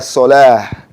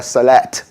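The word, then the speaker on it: الصلاة: So you just want to be able to tell the difference between salah and falah. Falah has the hard H, salah has a soft. And it's hayya ala salah, not hayya ala salat. It's a salah without a T on the end.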